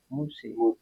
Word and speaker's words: Musa: Al-Qur'an juga menyebut Musa ya. Boleh dibaca Musa, boleh dibaca Muse.